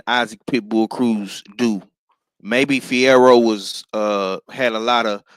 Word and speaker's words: Fierro: Um, Pitbull Cruz in the Fiviera fight, if that's how you say his name. Um, Isaac Pitbull Cruz bounced back and got him a win last night. Fierro, my bad, Fierro.